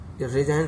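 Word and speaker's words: resign: रिजाइन, रिजाइन माने इस्तीफा, इसमें भी जी साइलेंस वर्ड है।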